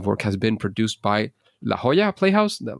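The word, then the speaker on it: La Jolla: has been produced by La Hoya Playhouse laa how do you pronounce that one you nailed it La Hoya La Hoya playhouses without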